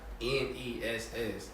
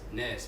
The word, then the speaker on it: Ness: bro and i'm people really be saying my name like it's a word like happiness madness sauciness and sauciness good job and i'll be like bro my name is ness i appreciate the love